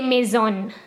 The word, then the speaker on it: maison: i told you before when an s comes between two vowels it's pronounced like a z so me is maize